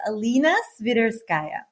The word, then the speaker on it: Alena Sviderskaia: name with your lovely accent my name is pronounces alina switterskaya oh beautiful i've heard it all i don't